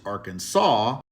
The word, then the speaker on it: Arkansas: should be spelled Arkansas as it's spelled but pronounced Arkansas theqa were the original inhabitants of the state